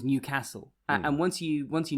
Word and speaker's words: Newcastle: think of is once the right way of pronouncing newcastle is newcastle and once you once